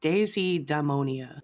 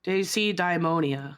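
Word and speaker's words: deisidaimonia: It's like daisy-daimonia. There's like an extra syllable in it. It looks like what you're saying, Heka, but it has an extra I in it, or at least it seems that way to us.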